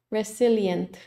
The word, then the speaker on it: resilient: Resilient. Nos muestra exactamente dónde fallamos. La S. La S la pronuncié como una S y no como una Z.